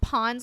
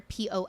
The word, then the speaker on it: Pon: If it comes at the end of a word, you pronounce it as an N. So that's why that happened. And so if you're looking for Pon's content from Superboy, some